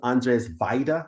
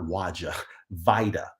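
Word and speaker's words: Andrzej Wajda: previous video but uh his name is andres vaida not waja vida and it's called ashes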